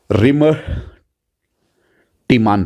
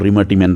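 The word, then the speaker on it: Reimer–Tiemann: नाउ रिमर टीमान reaction, या मैं इसको प्रोनाउंस करता हूं रिमर टीमान reaction, simple. Clear, otherwise it's your रिमर टीमान reaction बच्चों.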